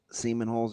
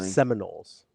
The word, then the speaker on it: Seminoles: Seaman holes are just going to do this darn thing. Seminoles. Seminoles. It's a pronunciation issue there, DB.